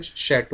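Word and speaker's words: château: में आप देखोगे तो शट कहा जाता है क्या कहा जाता है शट यह लिखा तो इस तरह से जाता है बट इसको हम लोग प्रोनाउंस करते हैं शो और यह शट में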